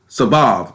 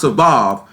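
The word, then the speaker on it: סָבַב: The Hebrew word for this is Sabav, but it is spelled C-A-B-A-B. It is pronounced Sabav, but it is spelled C-A.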